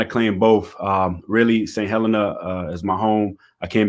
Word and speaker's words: Saint Helena: talk to us about saint heller saint helena that's how you say it correct right give us a